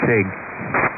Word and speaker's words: Sieg: I always wrestle with the pronunciation of S-I-E-G. Yes, Sig. Sig.